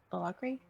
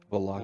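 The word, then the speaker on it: Vallaki: Valakri? Is that how you say it? Valaki.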